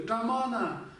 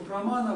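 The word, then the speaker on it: प्रमाण: говорили нам, что вот в Тибете мы произносили это как тамана. Но вот выясняется, что это не тамана, неправильно произносить прамана.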